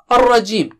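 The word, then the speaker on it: الرجيم: Okay, Ar-Rajim. Minash Shaitani Ar-Rajim. Ra is thick here. It is not English R. Be careful, it's not English R. Don't say Minash Shaitani Ar-Rajim, Ar-Rajim.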